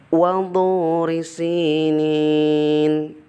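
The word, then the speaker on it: وَطُورِ سِينِينَ: Nah, anak-anak, bedakan huruf ta dan to. Di dalam surat At-Tin ayat kedua yang tertera adalah huruf to. Jadi pelafalannya sekali lagi seperti ini. Wadhuri sinin.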